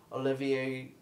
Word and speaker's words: Olivier: over this artist named Olivier Copiel. I think that's how you pronounce his name. Yeah. It's spelled like Oliver, kind of, but, like, that's not how you pronounce it.